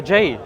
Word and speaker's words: Jai: Oh, Jai. Like, yeah, but it's pronounced Jai.